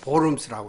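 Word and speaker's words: Worms: 그해 4월에는 신성 로마 제국 황제인 찰스 5세, 칼 5세의 주재 아래 보름스, 영어로 하면 월음스입니다. 이게 벌레들이란 말이죠. 근데 이제 독일어 발음으로 보름스라고 그래요.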